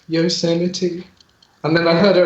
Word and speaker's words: Yosemite: okay I've remembered mine it was it was Yosemite and I pronounced it yourself okay that's understandable why oh I see yours